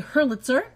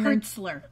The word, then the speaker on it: Hertzler: Hurlitzer. He was born in... Hertzler.